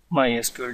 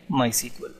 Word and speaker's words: MySQL: mall currently for SQL nek structured Curie language mysql database may be small hoagie yay free general public license tag or the pronunciation hi hamari mysql database kelly my SQL humsafar hang it ok my sequel